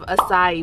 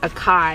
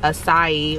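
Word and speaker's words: açaí: called it spelled like a kai and i've heard people say akai but i know that's not the right way i know it was like acai or a sai bowl so we're just gonna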